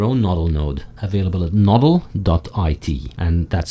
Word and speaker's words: nodl.it: by running your own novel node available at noddle.it and that's spelled nodl.it finally coldcard my hardware wallet of